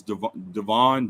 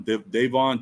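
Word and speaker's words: Davon: guy his name is I think he says Devon Devon d-a-v-o-n um gotcho he's free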